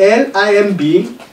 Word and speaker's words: limb: Remember I said, when you have L-I-M-B, you don't pronounce B.